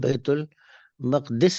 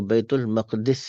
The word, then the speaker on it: بیت المقدس: یہ عام طور پر ہم اس کو بیت المقدس بھی پڑھتے ہیں اور بیت المقدس بھی پڑھتے ہیں. عام طور پہ لوگ بیت المقدس پڑھتے ہیں، لیکن زیادہ بہتر جو وزن ہے اس کا، وہ تلفظ اس کا پڑھنے کا، وہ بیت المقدس ہے. اچھا کیوں ہے وہ پھر انشاءاللہ آپ کو بتائیں گے، لیکن بیت المقدس پڑھے تب بھی ٹھیک ہے، غلط نہیں ہے.